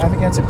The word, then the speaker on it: Amagansett: AmagansetT. Just make sure you got it right. Amagansett, and then second word is press, like the media. Amagansett Press.